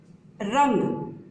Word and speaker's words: रंग: ही प्रयोग होता है, किंतु उच्चारण में वह पंचमाक्षर की ध्वनि से ही उच्चारित होगा। जैसे उदाहरण देखिए, रंग।